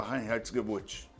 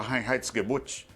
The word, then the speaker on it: Reinheitsgebot: vai explorar os verdadeiros motivos da promulgação da rainha add boot que a lei da pureza da cerveja aliás